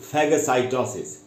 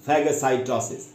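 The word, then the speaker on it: phagocytosis: word बता आज का तीसरा वर्ड है दोस्तों फैग साइटोसिस इसकी स्पेलिंग बता द आपको पी एच ए जी ओ सी वाई टी ओ एस आई एस फैग साइटोसिस इसकी मीनिंग क्या है य ये भी एक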